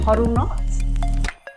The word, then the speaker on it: HODLNOTS: So with me today, I have John and Vicki from do you pronounce it huddle knots?